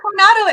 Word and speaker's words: Coronado: the Del Coronado award did I say it right no Coronado it means the crown okay operoning and Excellence